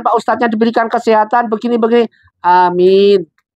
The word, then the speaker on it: amin: ustaznya diberikan kesehatan beginibegini amin itu jadi Anya panjang Amin kalau Balkan kita malu dan ucapkan dalam hati enggak cukup kita ucapkan dalam hati amin jadi diimbangin ini yang benar sering diucapkan dalam kata-kata Amin ini salah kaprah salah lumprah salah tindakan